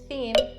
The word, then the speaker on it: theme: saying this word is don't change the voiceless TH sound to the voiced TH sound. So rather than saying theme, you'd say theme. That's not correct. Theme. Also, be careful and don't change this word to them.